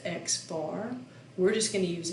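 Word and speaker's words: x̄: see this thing with an x with a line over it which is pronounced x bar we're just going to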